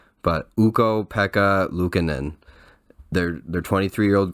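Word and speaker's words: Ukko-Pekka Luukkonen: look up how to say his name but uko Pekka lucanen their their 23 year old goaltender is showing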